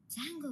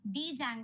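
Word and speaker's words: Django: சோ இப்போ பிப் install டி ஜாங்கோ, ஆனா இப்போ இதை நம்ம வந்து ஜாங்கோ தான் ப்ரொனவுன்ஸ் பண்ணுவோம்.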